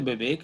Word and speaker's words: विवेक: कि मैंने पहले कहा, विवेक में 'व' अक्षर का उच्चारण अवधी में नहीं होता, इसलिए लोग 'ब' बोलते हैं, तो विवेक की जगह बिबेक बोलते हैं।